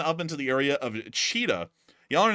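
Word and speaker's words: Chita: Moving on up into the area of cheetah. Y'all are not going to believe there's actually a city in Russia. The exact way you pronounce it is cheetah. Um which is like cheetah, you know, the animal.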